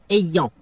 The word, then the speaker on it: ayant: Le participe présent du verbe avoir est ayant. Faites attention à la prononciation.